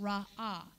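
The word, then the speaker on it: רָאָה: And the next one is to see, which is H7200, pronounced Ra'ah.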